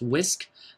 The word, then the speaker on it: WSQ: is called the whisk wsq pronounced whisk so the wisdom for